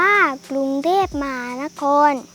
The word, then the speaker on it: กรุงเทพฯ: ทั้ง ข้อ ความ เช่น อยู่ กรุงเทพฯ ไป ยาล น้อย อ่าน ว่า ปรุง เทพ มหานคร โปรดเกล้า ไปยาล น้อย อ่าน